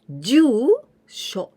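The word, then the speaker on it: 住所: Now adding this kanji that we learned today, here we pronounce jusho.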